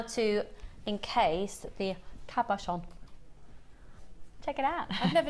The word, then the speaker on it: cabochon: real issues with it what do you say kaverson oh cav with a v yeah yeah i